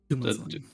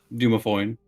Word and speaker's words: Dumathoin: Dumathoin. Dumathoin.